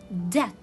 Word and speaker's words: debt: as in the word debt. It comes before letter T. It comes before letter T. So when it comes before letter T, it will be a silent letter. It will be silent B. Debt.